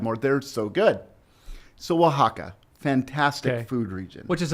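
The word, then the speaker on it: Oaxaca: right okay and it's say the name of it again Waka but that's spelled like o a o a x a CA well I think we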